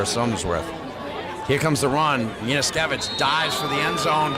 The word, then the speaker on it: Janaszewski: I believe it's Yaniskevich, but I don't think I've said it right that often. Yaniskevich? Shevsky.